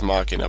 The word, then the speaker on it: Machina: the two it is I always called it Machina since it's similar to machine but one of the guys I follow on YouTube called him Machina so and I like that pronunciation so uh lately I've been going with makina but yeah I'm using